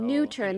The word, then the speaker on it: NUTURN: died yep but for new turn here they still have these three ultimates in two new turn that's how you pronounce it they want to make